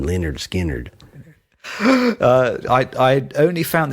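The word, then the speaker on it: Lynyrd Skynyrd: teacher named Leonard Skinner they pronounce them Leonard skinnard uh I I only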